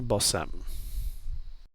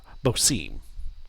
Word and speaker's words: Bosim: the name Jack Ben bosam sorry I mispronounced it bosim Jack Ben bosim he yeah real quick